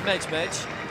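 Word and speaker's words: Medjmedj: If you call an athlete Nadia Mejmej and you go and ask her afterwards how she pronounces her name and she says Nadia Mejmej, silver medal for her.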